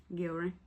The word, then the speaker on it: Gillery: The last victim of the Jeff Savis 8 is Nicole Gillery. Did I say it right? Gillery.